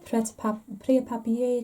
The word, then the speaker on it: Prêt-à-Papier: This was part of the Prêt-à-Papier collection. I've been told you don't pronounce the T in Prêt-à-Papier.